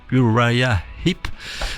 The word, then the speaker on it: Uriah Heep: Alors en anglais on prononce Uriah Heep.